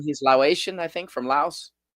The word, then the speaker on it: Laos: They don't pronounce the S.